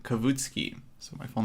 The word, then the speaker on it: Kavutskiy: how's everyone doing uh you can pronounce my last name kavitsky so my full name